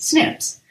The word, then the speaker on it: SNP: in a gene snp single nucleotide polymorphisms which is pronounced snips are part of the